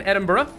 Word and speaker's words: Edinburgh: We're landing in Edinburgh. Which, by the way, why is it pronounced Edinburgh? Come on, that looks like Edinburgh. Or Edinburgh, at the very least. But Burra? It's like an extra syllable.